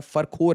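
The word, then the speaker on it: Фархор: अब जरा से आ जाइए फखरोर एयरबेस, ये एक लोकेशन देखिए। तो फखरोर एयरबेस के बारे में, ये फरखोर या फखरोर जैसे इसे प्रोनाउंस किया जाता है, फरखोर है एसेंशियली।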